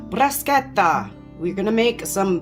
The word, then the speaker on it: bruschetta: I think the proper way to say it is bruschetta. All right, bruschetta.